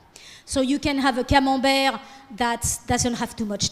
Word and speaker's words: Camembert: Camembert. Oui, le camembert. Camembert, as the Americans would say.